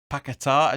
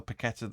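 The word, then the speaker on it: Paquetá: taking off lanzini for pakita as you're supposed to be pronouncing it or the paquetta that we've been pronouncing it uh lanzini came off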